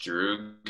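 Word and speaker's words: друг: I think it's pronounced drug in Russian, but it means friend.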